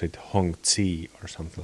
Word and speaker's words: Hongzhi: English speakers pronounce it Hong C or something like this but I think Hong sure is the right one yeah I usually don't